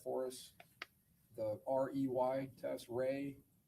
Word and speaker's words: Rey: There's also a visual spatial ability test and I'm going to have you explain or pronounce that for us. the REY test. Ray, the Ray Astrich complex figure test.